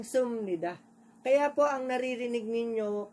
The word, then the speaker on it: 습니다: Therefore, sa halip po na ang basahin po ito as supnida, magiging sumnida.